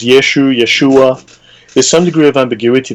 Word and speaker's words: Yeshua: like, how would it be pronounced, may I ask, according to the tongue of, I guess, the Jews at the time? Different. So there's some degree of ambiguity. There's Yeshua.